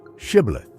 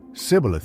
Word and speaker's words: shibboleth: The test was simple: say the word shibboleth. But the Ephraimites couldn't pronounce the eshe sound. They said sibboleth instead, and were executed on the spot.